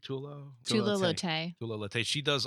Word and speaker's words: Tula Lotay: so Becky Cloonan, how do you pronounce her name? Tula Tula Lotay.